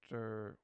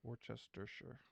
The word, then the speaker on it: Worcestershire: It looks like Worcestershire, but Yeah. that because it's like British or something, that whole last part you just like Mumble it. Worcestershire. Worcestershire. Worcestershire.